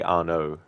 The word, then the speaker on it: Arno: Yeah, I mean, I guess some might try to pronounce it Arno, which, yeah, because not everyone, knows that for some names you need to, the end of the word is like silent. Like you just say Arno.